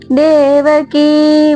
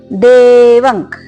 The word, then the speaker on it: ದೇವಕಿ: ಮರ್ಧನಂ ದೇವಕಿ ಪರಮಾನಂದಂ ದೇವಕಿ ಕಿ ದೀರ್ಘ ಇರಲಿ ಮತ್ತೆ ದೇ ಕೂಡ ದೀರ್ಘ ಇರಲಿ ಹಾಗೆ ಪರಮಾನಂದಂ ಇಲ್ಲಿ ಪರಮಾನಂದಂ